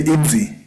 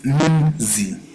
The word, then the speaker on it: nzi: If you find it hard, you can add an I, a silent I, which is E, before. When you're doing your pronunciation, you can say nzi. But that E should never appear in your writing. The writing is nzi, but you can put an I to say nzi if in case you want to make it easier to pronounce it.